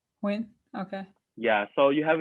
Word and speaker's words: Nguyen: Yeah, the N next to the G always like threw me for a loop, and it's like a W sound. It's well to say it correctly is Nguyen. Win.